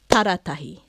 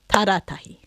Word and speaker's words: Taratahi: I'm just going to say them out loud so you can hear with a clap where that stress is. Akaroa, Akaroa, Wairarapa, Wairarapa, Taratahi, Taratahi, Whakaoriori, Whakaoriori.